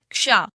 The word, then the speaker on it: क्ष: जब हम क बोलने के लिए तैयार हो और हम जल्दी से श बोल दें तो इसका उच्चारण क्या आएगा?